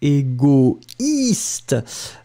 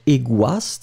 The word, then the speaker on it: égoïste: Don't forget the tréma on the I, because this is the reason why you will pronounce it égoïste, but not égoiste, hein?